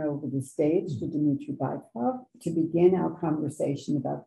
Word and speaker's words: Bykov: First of all, dear friends, I must say that the correct pronunciation, I'm sorry, is Bykov, because Dmitry Bykov is a very well-known dictator.